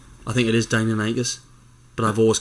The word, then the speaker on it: Deinonychus: I think it is Deinonychus, but I've always called it Deinonychus.